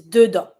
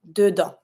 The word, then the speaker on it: dedans: And to say inside, dedans. Same thing, you don't pronounce the S.